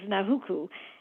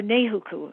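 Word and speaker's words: Nāhuku: The one that is very famous is Nahuku, and or Nehuku, excuse me. I think that's how it's pronounced.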